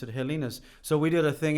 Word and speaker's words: Helena's: To make it sound Hawaiian, she added an A to her name and pronounced it Helena. Okay. And the family and everyone pronounced it Helena's.